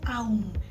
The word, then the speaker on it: Om: es om o es aum. De las dos maneras es correcto cuando está escrito, porque en el idioma sánscrito, cuando están la letra A y la U juntas, se pronuncia como una O.